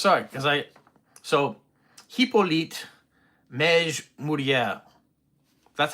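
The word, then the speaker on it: Mège-Mouriès: And I think it's Mourier, not Mourier, because there's no extra R in there. So Hippolyte Mej Mourier, I think is his French pronunciation of his name.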